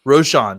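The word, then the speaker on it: Roschon: heard some talk about I don't know how to say his first name I think it's roshard Johnson from Roshan Johnson Roshan sorry Roshan Johnson from University of Texas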